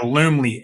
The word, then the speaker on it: Loom: that for me yeah loomly l-o-o-m-l-y literally all right really easy to use okay well this is one of the platforms i've been pushing for is called loom l-o-o-m rhymes with zoom z-o-o-m but it's more